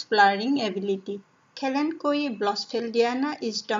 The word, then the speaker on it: Kalanchoe: plant it's called kalanchoe everyone pronounce it differently but I like to pronounce it Kalyn GUI it's an excellent flowery house plant mainly grown for its flowering ability Callen Kui bla still Dianna is